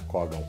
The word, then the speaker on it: Kogan: No, I always used to say “Kógan” .